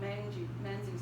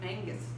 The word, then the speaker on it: Menzies: cultivation but an older generation to him archibald menzies but in fact his name should be pronounced angus seemingly so i may go back and forth